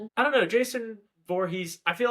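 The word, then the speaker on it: Voorhees: Come face to face with the iconic horror villain Jason Vor. Vorhees. Vorhees. Um step into the terrifying world of this silent killer.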